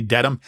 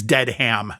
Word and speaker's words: Dedham: And Daniel, something very It's Dedham. They say it wrong through the whole thing. They say Dedham. It's Dedham. Come on.